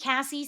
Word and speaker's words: Cassy: Just think Cassy spelled like sassy.